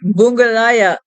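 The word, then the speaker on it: Bundibugyo: This outbreak is caused by this thing called the bungallaya Ebola virus. And I'll spell that.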